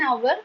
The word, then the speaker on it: hour: That is H is silent.